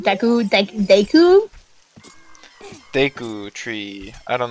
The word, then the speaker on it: Deku: isn't working we like to beat gekko tree deco deku deku deku tree i don't know i i